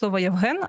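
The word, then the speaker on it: Євген: years of her life, she could not say the word 'Yevhen', and until the very end she said 'Yevgen'.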